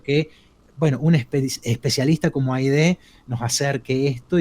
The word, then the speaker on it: Haydee: Ha sido Aide, ¿así se pronuncia Aide? ¿Está bien? Sí, está bien, muy bien.